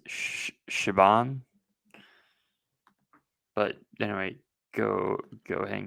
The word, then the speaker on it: Siobhan: I believe the right way to say it is Shaban.